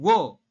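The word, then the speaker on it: 워: U ditambah dengan O, maka dibacanya bukan Wo, tapi dibacanya langsung Wo.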